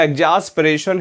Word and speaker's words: exasperation: याद रखिएगा, और ATION, एक्स असरपेशन। क्लियर? या एग्जास्परेशन, सही प्रोनाउंसिएशन तो इसका एग्जास्परेशन है, लेकिन एग्जास्परेशन की जगह एक्स असरपेशन याद रख लें तो स्पेलिंग को याद रखने में आपको आसानी हो जाएगी।